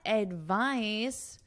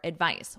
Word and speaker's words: advice: What advice do you have for me? Because this person is asking for advice.